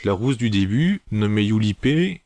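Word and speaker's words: Yurippe: Bref, il va faire la connaissance d'autres lycéens dont en fait la rousse du début nommée Yulipé, ça s'écrit Yuripé, c'est la chef en fait d'un petit groupe de lycéens qui s'oppose à l'ange à Tenschi.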